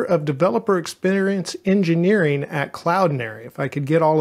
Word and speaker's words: Cloudinary: is the director of developer experience engineering at Cloud Nary if I could get all of that out